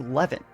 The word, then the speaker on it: Levant: I've been pronouncing it as Levant. Apparently, it's canon in the game that it's Levant.